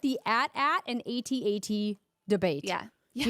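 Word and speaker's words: AT-AT: in my head I was like what's an at at and then I was like oh it's it's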